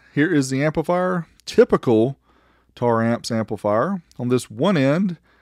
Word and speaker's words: Taramps: tar amps anybody else pronounce it terra amps i know i used to back in the day they